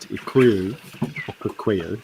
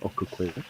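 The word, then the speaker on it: Okaukuejo: Kilometers west across 3 countries and are now in Namibia's Etosha National Park at Okukweyo, sorry, that's how you say it, Okukweyo.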